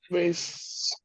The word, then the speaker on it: vase: Vase. And Rasana, you can also pronounce it vase, the British pronunciation.